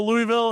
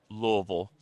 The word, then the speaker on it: Louisville: talk about Louisville. Illinois. Louisville. You have to say it like you have a bunch of marbles in your mouth and a 7th grade education.